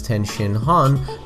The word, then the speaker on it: Tien Shinhan: Tien's name can also be pronounced as Ten Shinhan with a furigana reading, which is why the community interchanged between those two pronunciations.